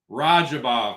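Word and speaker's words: Radzhabov: Rajabov, man. It's Rajabov. Ja, you pronounce that Rajabov, brother.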